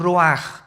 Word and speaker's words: ruach: El ruaj que se escribe r u a c h ruach en el hebreo y se pronuncia igual ro ruaj.